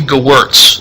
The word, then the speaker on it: Gewirtz: last name for me it is g-e-w-i-r-t-z gowertz it's it rhymes